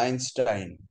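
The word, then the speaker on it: Einstein: আইনস্টাইন, বানানটা এইনস্টাইন কিন্তু উচ্চারণটা আইনস্টাইন।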